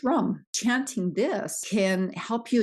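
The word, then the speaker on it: Ram: below your rib cage and this one is pronounced rum chanting this can help you achieve that transformation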